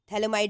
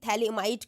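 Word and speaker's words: phthalimide: hello कार्बोसिंथ might synthesis थैलेम में आपका पी और एच साइलेंट रहता है ठीक है पी एच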